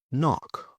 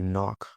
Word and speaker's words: knock: Now, the silent k before an n. For example, know, knife, knee or knock. You knock on the table or on the door, knock.